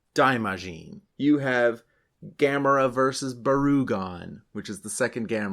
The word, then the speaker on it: Barugon: you have gamra versus barugon which is the second gam movie is it pronounced barugon I emphasize the U because there's a Godzilla monster that name is almost exactly the same Oh I thought we